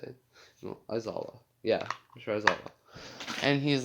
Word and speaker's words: Aizawa: No, Aizawa.